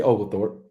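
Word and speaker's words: Oglethorpe: it okay number one you got to learn how to say ogal Thorp that is a very significant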